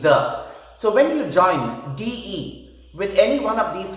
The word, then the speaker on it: de: Today we will concentrate on the contraction of the definite article with de. Now remember, de, which is pronounced the, is a preposition.